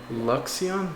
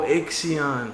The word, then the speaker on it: Ixion: It is not an L. Oh, Ixion.